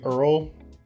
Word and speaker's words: IRRRL: the VA Streamline Loan SL VA Earl spelled kind of like that song Earl has to die. Oh, not spelled the same, but it's pronounced the same.